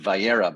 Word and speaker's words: Vayera: It is called Va'era, not to be confused with Vayera, by the way. Vayera is Genesis. This is Va'era, slight nuance on the pronunciation.